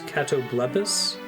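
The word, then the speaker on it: catoblepas: like they pronounce uh petrifying monsters spelled c a t o b l e p a s which I've always read as kobalos is katobus like okay I can hear that I guess maybe I've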